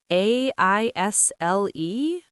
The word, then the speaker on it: aisle: They are in aisle five. Aisle? A I S L E? The S is silent? Yes, another silent letter. Aisle is pronounced like aisle.